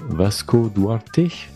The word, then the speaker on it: Vasco Duarte: Je suis Julien Deray et aujourd'hui je suis accompagné d'un invité en la personne de Vasco Duarte. C'est comme ça qu'on prononce ?